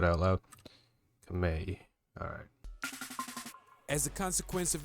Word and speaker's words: Khmer: Hold on, Khmer. You guys did say in the comments that's how you said it. Okay. I just never heard it said out loud. Khmer.